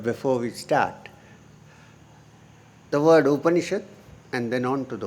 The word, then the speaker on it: Upanishad: Because it consists of Upa, Ni and Shad. 3 syllables split.